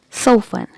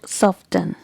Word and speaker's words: soften: word is so fun letter t is silent here so how will you pronounce it so fun not soften okay again letter t